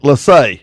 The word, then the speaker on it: Lassay: And I want to say I'm saying it right. Lassay. Is that correct? Yep, that's correct.